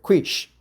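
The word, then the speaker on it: quiche: Quish, but sometimes pronounced mistakenly quickly, right?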